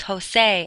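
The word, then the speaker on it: José: The letter J in Spanish is how they make our H sound. The names Jose and Juan are spelled with J's because that's when they use the H sound.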